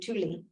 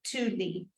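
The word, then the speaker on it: tvli: it's spelled TV l i and then you pronounce it Tuli Tuli the U the B sounds like a u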